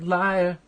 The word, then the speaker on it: lyre: It's pronounced like liar.